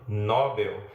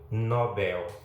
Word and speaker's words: Nobel: A mesma coisa acontece com aquele conhecido prêmio que é dado para algumas pessoas que se destacam em algumas áreas. Não se trata do prêmio Nobel, mas do prêmio Nobel.